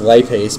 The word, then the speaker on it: lipase: So, it's pronounced lipase, but if you think lip ace, it's telling you it's an enzyme that breaks lipids.